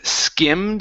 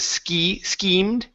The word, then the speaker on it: skimmed: And here we have the word skimmed instead of schemed. Okay, short I, skimmed. Short I, skimmed. Good.